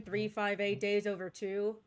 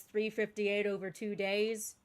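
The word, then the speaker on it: 358/2 Days: Yeah, apparently that is the correct pronunciation. 358 days over two. I had always pictured in my head as 358 over two days.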